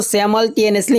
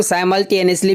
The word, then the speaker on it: simultaneously: इसको सैमल्टेनियसली ही पढ़ा जाता है। यदि इंडियन प्रोनाउंसिएशन की बात करें तो इसको साइमल्टेनियसली भी कुछ लोग पढ़ते हैं, वो भी आप पढ़ सकते हैं, बट सैमल्टेनियसली ज़्यादा करेक्ट प्रोनाउंसिएशन है, ब्रिटिश प्रोनाउंसिएशन।